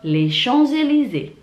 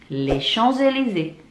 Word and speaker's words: Champs-Élysées: Itulah 10 tempat di kota Paris dan bagaimana cara bacanya. Saya ulangi satu-satu ya. La Tour Eiffel, la Tour Eiffel, la Tour Eiffel, les Champs-Élysées, les Champs-Élysées, les Champs-Élysées, l'Arc de Triomphe, l'Arc de Triomphe, Notre-Dame, Notre-Dame,